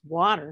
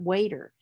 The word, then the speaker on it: water: precede the Val graphing when you have W before a it doesn't it isn't pronounced the way we would expect its water not waiter or wash not wash is there any question